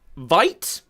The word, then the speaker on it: Vite: And yeah, thank you, Vite. Pronounced Bite.